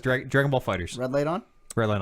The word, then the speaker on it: Dragon Ball FighterZ: The official pronunciation, by the way, Dragon Ball FighterZ. Are we on? Yeah. All right. Yeah, Namco says Dragon Ball FighterZ.